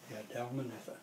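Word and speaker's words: Dalmanutha: You pronounce that Dalmathua? Dalmathua? Dalmathua? You're on. Huh? You're on. Hello there, Carol. I see you're on. Hope Greg is with you. Yeah, Dalmanitha.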